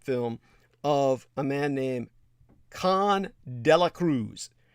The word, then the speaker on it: Khavn: of a man named Con de la Cruz. His first name is spelled Khavn, Con de la Cruz.